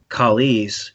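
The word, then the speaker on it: Chalis: And then Kalis, which is spelled with CH, not a K, is tooth or fang, depending on its usage.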